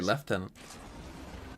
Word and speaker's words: lieutenant: He Well, I mean, to be fair, we don't say it like that. How do you guys say it? We say left tenant. Left tenant. You know, like what it's meant to be again.